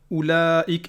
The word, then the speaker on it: أولئك: une prolongation ou tout, alors qu'ici pour oulaïk, il y a un zéro au-dessus du waouh, donc c'est écrit mais c'est pas prononcé. Donc il n'y a pas de prolongation, on va dire oulaïk et pas oulaïk.